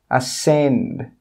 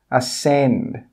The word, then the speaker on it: ascend: This means when you pronounce these words, you don't have to pronounce the letters which are in red.